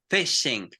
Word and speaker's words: phishing: Listen to this pronunciation with phishing, explode. With you have PH, you explode. If you had an F, you close your mouth.